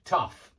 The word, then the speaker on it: tough: tough is this adjective tough and it's got this off sound off um and it's exactly the same sound that you hear in